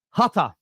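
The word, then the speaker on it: Hütter: Sorry, Hutter is how you pronounce him.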